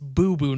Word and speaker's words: Bobo: it's pronounced boo-boo, Nile. Read it again. This is Bobo. Look, I figured it was in Wales, so I just had the pronunciation wrong.